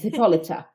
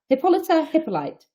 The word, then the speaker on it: Hippolyta: It's Hippolyta. Hippolyte. You could say either, actually.